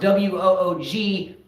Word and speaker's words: WOOGAS: You know, my favorite acronym is WOOGAS, pronounced WOOGAS, WOOGAS, but it's actually an acronym for WGAS, which stands for who gives a shit.